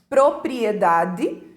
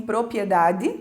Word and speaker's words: propriedade: Propriedade, muitos pronunciam propriedade, né, comem um R.